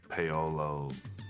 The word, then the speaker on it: Paolo: i hear a lot i mean pablo is is very common uh even though there's no bee in my name i think they just you know default to that paolo a lot of different mispronunciations but what about on